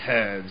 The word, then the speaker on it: herb: which is funny because in the British dialect I believe you do pronounce the h in herb oh okay so huh